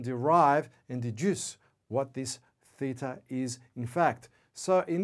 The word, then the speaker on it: theta: Theta, the Greek letter. Theta, pronounced theta, T-H-I-T-A.